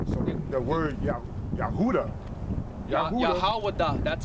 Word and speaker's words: Yahweh: Okay, it's actually it's pronounced Yahweh. Yahweh.